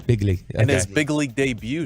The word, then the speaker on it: Begley: how to say it Zach bigley how would you say his last name Pig lead him big lead there we go big league and his big league